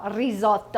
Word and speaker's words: risotto: make cauliflower risotto and if you can roll your r's let me know risotto all right and then